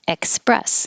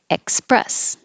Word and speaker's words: express: 47 has a k in it, express, because you're stopping the airflow, express.